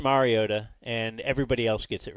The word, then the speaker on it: Mariota: telling you everybody's great he kept saying uh marota which it's not a big deal but it is pronounced Mariota and everybody else gets